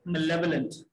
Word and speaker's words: malevolent: Malevolent is the proper way of pronouncing it. Lekin uski writing hogi male volent. Bola jayega malevolent.